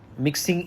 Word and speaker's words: mixin: internally if you introduce mixing in that. So this is pronounced as mix in and sometimes we call it mixing also.